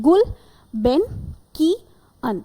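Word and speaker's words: Gulbenkian: जब भी कोई ऐसा वर्ड जो वेरी डिफिकल्ट टू प्रोनाउंस हो, तो हम क्या करेंगे, उसको डिवाइड कर देते हैं, गुल बेन की अन, ठीक है।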